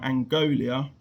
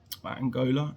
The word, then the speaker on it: Angola: Victor Bernardo, 51, from Angolia. Angola. Angolia. They spell it Angola.